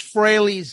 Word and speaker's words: Frehley: Ace Frehley's 10,000 volts.